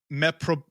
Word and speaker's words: meprobamate: And at some point, she even attempted suicide by overdose on, now I tried pronouncing this, it's meprobamate.